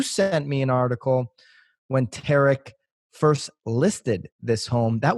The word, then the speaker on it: Tarek: Tariq? Tarek. Tarek. Say it's spelled like Tariq.